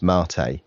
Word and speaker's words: MATE: um it is pronounced Marte uh as if you were ordering a latte so that's the that's